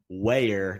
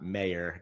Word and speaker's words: Weer: off by apologizing for my pronunciation of Ben weer not mayor got my W's and M's mixed up there but huge fan of